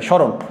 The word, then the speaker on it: স্মরণ: স্মরণ শব্দটি আমরা যদি একদম শুদ্ধ উচ্চারণের নিয়ম অনুযায়ী আমরা করি, তাহলে শব্দের আদিতে ম ফলার উচ্চারণ হয় না। প্রথম নিয়ম, শব্দের আদিতে ম ফলার কোনো উচ্চারণ হয় না, তাহলে ম ফলার উচ্চারণটি হবে না।